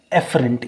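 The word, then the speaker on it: efferent: एक होती है एफरेंट नर्व्स और एक होती है एफरेंट, यानी कि एक है AFF और एक है EFF। ठीक है ना? प्रोनाउंस एक ही तरह से होंगे, एफरेंट एंड एफरेंट।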